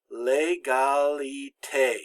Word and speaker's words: égalité: It's always pronounced like the long A in English. Here we have L'égalité.